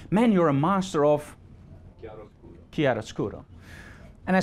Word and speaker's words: chiaroscuro: And that's called composition, leading lines, and something, and I hope I pronounce this correct, chiaroscuro. Chiaroscuro? Chiaroscuro. Thank you. It's perfect.